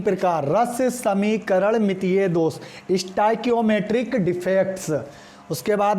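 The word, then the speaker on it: stoichiometric: अब इसकी स्पेलिंग जान लीजिए। इसको बोलते हैं स्टाइकियोमेट्रिक, कियोमेट्रिक डिफेक्ट, इसको बोलते हैं स्टाइकियोमेट्रिक डिफेक्ट।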